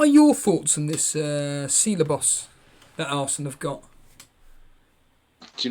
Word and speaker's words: Ceballos: What are your thoughts on this Ceballos that Arsenal have got?